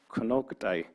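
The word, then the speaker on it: Konocti: So Konoktai, which in our language is actually pronounced Konoktai, actually means old mountain women.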